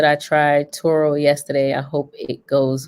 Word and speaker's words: Turo: So, I'm saying the name wrong. I'm like turbo, but it's Turo, right?